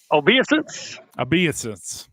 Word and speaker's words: Obeisance: Obeisance.